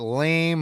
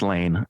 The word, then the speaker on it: Lane: We got Lame Hudson. I guess his name is Maybe it's Lame. It's Lane. L.